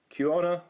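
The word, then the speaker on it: Quina: Kiona, I believe is how you pronounce it.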